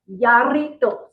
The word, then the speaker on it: Jarritos: Jarritos? Did I say it properly? I think that's a Y, so Yari, and it's double R, so you gotta roll your tongue a little more. Yarritos.